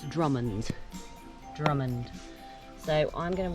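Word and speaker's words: Drymen: to so you would think that this is pronounced dryman but it's not it's drummond's drummond so i'm going to want to i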